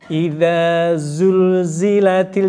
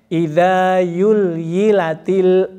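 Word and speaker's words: زلزلت: di ujung lidah ini itu sering membunyikannya dengan ketukar sama ya zulzilatil dibacanya yulyilatil ardu yilaha Zul Yul zulzul Yul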